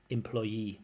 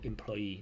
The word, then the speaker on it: employee: that the employee should give a Employee. Stress on that last syllable. Employee, not employee, but employee.